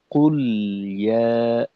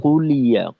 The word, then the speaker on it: قل يا: এখানে قل যদি একটু তাড়াহুড়া করতে যাই তো সেক্ষেত্রে যেমনটা হয় যে কুলিয়া, কুলি, আংশিক লামে জেরের মতো একটা উচ্চারণ তৈরি হয় আর কি, কুলি, কুলিয়া। এটা কিন্তু আমাদের একটা ভুল হয়ে যাবে।